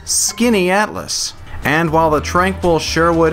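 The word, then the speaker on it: Skaneateles: The name is pronounced Skinny Atlas.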